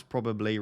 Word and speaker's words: probably: if he is rotated how do you pronounce probably ross do you skip the second b like andy does i've seen so many people get so triggered by andy saying pro probably probably i say probably so i pronounce both b's quite strongly these are the important